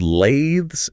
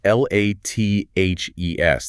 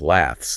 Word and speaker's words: lathes: The word lathes is spelled l a t h e s. The a is a long sound and the t h actually vibrates in your throat. It rhymes with the word bathes.